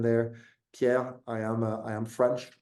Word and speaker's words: Pierre: is Pierre or you gave a very solid pronunciation there Pierre I am I am French originally I've been